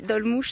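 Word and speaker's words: Dolmuş: Donc ça s'appelle les Dolmouches, ça s'écrit Dolmus, D-O-L-M-U-S.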